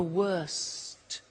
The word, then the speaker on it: worst: T bad worse the worst don't forget to pronounce the T and then far the